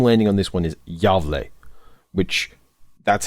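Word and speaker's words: Gävle: Burning the Gavle Goat is a game.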